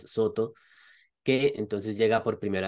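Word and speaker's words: Sōtō: tjing era precisamente la escuela Soto pronunciado en japonés Soto que entonces llega por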